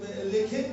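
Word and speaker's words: לחם: पहले जो बेथेल के साथ मिलकर बनता है उसकी लास्ट 5 वर्ड है LECHEN, लेखेन, इसे लेखेन बोलते हैं।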